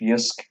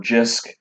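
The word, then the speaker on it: Jysk: good it looks danish yisk or jisc however you want to pronounce it um is a danish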